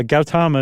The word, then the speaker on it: Gautama: to the point where there's just not uh Gautama Buddha is that the pronunciation you used yeah Gautama is everything I saw yeah Gautama Buddha uh